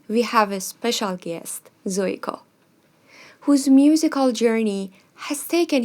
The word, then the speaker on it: Zuiko: Reishing is my Mandarin name, and Zuiko is the same thing but pronounced in Japanese.